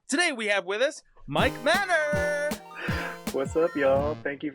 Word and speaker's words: Mike Manor: to our Channel today we have with us Mike Manor what's up y'all thank you for having me